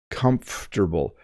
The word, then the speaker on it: comfortable: here it's very comfortable comfortable so the M and F slide together very comfortable and you don't over pronounce every syllable it's comfortable I have